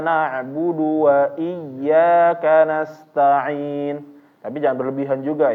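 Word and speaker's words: إياك: al-fatihah al-fatihah ini iyaka orang-orang membacanya menjadi iaka na'budu wa iyaka nastain itu salah atau benar salah yang betul adalah dia ditekan karena dia ynya ini bertasdid yang menyebabkan suaranya agak naik sedikit iyyaka nabudu wa iyyaka nastain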